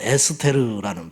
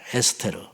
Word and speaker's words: 에스테르: 그래서 페르시아식 원래 발음은 에스테르라는 발음이래요. 에스테르. 그리고 이제 에스더로 영어로 그냥 하게 됐고 이 원래 히브리식 이름은 하다사.